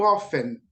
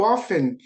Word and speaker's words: often: Primeira coisa que eu quero aí mostrar para vocês é esse how often. Nós temos dois tipos de pronúncia, tá? Pronunciamos o T ou às vezes não pronunciamos o T, dependendo da região ou dependendo do país aí onde a pessoa mora.